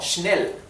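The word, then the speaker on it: schnell: final se pronuncia J la s ch se pronuncia como la sh inglesa O sea sh sh sí sh como schnel schnel que significa rápido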